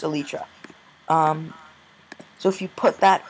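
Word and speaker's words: Elytra: know from our videos that Elijah or I think it's actually pronounced Alicia so if you put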